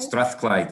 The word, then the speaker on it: Strathclyde: And just a quick check, actually, Miguel from University of Strathclyde, is that how is it pronounced? Strathclyde? Strathclyde, yeah.